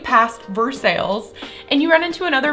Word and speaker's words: Versailles: With that exact same spelling is a city that everyone pronounce it Versailles. Another example, keep going west, right past Versailles, and you run into another big city in Kentucky that is spelled like this.